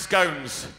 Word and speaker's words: scone: Death on this side it's people who think it's pronounced scones and on this side